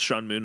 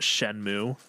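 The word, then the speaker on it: Shenmue: shanmu now um and is apparently pronounced shanmu not shenmu so don't correct me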